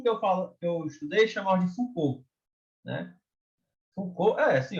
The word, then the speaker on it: Foucault: Foucault. A gente chama Foucault, Foucault. Antigamente eu tinha um professor que falava Foucault, mas o último que eu estudei chamava de Foucault, né?